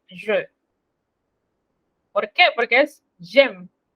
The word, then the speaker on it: j'aime: Porque es j'aime. No se pronuncia la E final, pero al escrito él está.